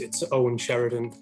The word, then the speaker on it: Eoin Sheridan: Yes, as Prakesh correctly pronounced my name, it's Eoin Sheridan.